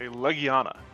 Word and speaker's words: Legiana: M mhm but yes this is indeed a Leana or Leana I don't remember how they pronounce it it's the first one Leana perfect it makes more sense to pronounce it that way and if anyone pronounces it the other way they're wrong I prefer Lana I